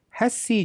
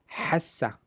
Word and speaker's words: هسي: And sometimes it is pronounced as hassa. Hassa.